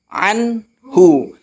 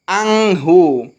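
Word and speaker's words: عَنْهُ: Anhu. Jangan dibaca anghu. Jangan dibaca amhu ya.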